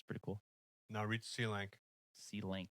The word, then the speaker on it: Selank: Now read C-Lank. C-Lank. How do I spell that? SELANK.